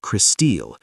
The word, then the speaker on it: Crystal: Her name, pronounced Christille, reflects her family's Scandinavian heritage.